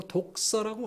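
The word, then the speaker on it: δόξα: 주제넘는지 모르겠습니다만은 영광이라는 단어가 헬라어로 독사라고 합니다. 뱀 독사가 아니고 발음이 좀 거시기 한데 그 독사, 영광이라는 단어가 헬라어로 그렇게 발음이 되어지는데요.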